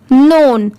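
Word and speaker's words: known: एन ओ डब् एन इसे क्या पढ़ेंगे नोन यहां पर एन ओड एन सिर्फ इसकी साउंड आती है यहां पर के लेटर साइलेंट है मैं आपको साइलेंट लेटर्स भी बताते चल रही हूं तो इस पे भी आप ध्यान दीजिए यहां पर भी जैसे ऑनेस्ट में एच साइलेंट था वैसे ही यहां पर भी के साइलेंट है सिर्फ पढ़ते टाइम नोन पढ़ते हैं बट लिखते टाइम के एन ओ डब् एन लिखा जाता है ठीक है ये है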